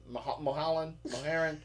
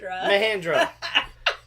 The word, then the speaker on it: Mahindra: Mulholland? How do you say the stupid tractor's name? Mahindra.